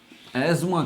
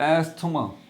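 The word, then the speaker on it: asthma: कहा जाता है और इंग्लिश में उसको एज़मा कहते हैं। एज़मा, कुछ लोग समझते हैं कि हाँ ये प्रोनाउंसिएशन सही हो गई, कुछ लोग तो बोलते हैं इसको एस्थमा। TH जो है उसकी आवाज़ बहुत खोल के निकालते हैं तो बड़ी ये तकलीफ़ होती है सुन के।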